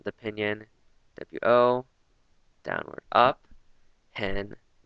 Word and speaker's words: 很: So wo, again, the pinyin, W-O, downward up, hen, H-E-N, and this is another downward up pronunciation, so it's hen, and hao, H-A-O.